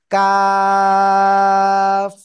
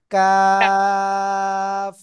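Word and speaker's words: كاف: অক্ষরটা দেখেন দুইটাই কিন্তু প্রায় কাছাকাছি জায়গা থেকে উচ্চারণ কিন্তু এটা চিকন আওয়াজে কাফ সবাই একসাথে জোরে বলেন কাফ জোরে জোরে বলেন জোরে জোরে আল্লাহ আল্লাহ আকবার কাফ কাফ ওকে তো আমরা কিন্তু এটা ক্লিয়ার হয়ে গেছি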